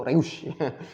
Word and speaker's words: Reusch: Reusch itu Reusch. Reusch itu cara baca ori.